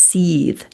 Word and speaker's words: Seth: So it's actually pronounced Seeth.